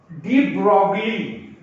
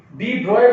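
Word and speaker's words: de Broglie: अब डी ब्रॉगली, डी ब्रॉय, बेटा डी ब्रॉगली लिखा जाता है, पर इसको प्रोनाउंसिएशन में हम डी ब्रॉय बोलते हैं।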